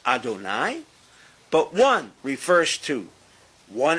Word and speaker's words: Adonai: They both are pronounced adonai.